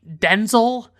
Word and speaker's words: Denzel: She was in that with Ryan Reynolds and Denzel Washington who apparently pronounces his name Denel and he like said this on like a late night talk show and he just like doesn't correct people or something.